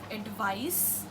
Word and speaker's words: advice: And this one is with the letter C, but the pronunciation comes with the sound of S.